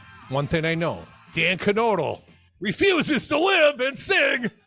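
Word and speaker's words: Knodl: and your boy Dan canodle I'm pretty sure you've pronounce the k yes Dan canodle says he would consider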